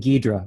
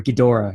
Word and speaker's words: Ghidorah: I think it's the Japanese like to pronounce it Ghidorah, but when it first came out in America, it was Ghidorah in the 60s. So, but I think popularly it's been Ghidorah since, you know, for quite some time.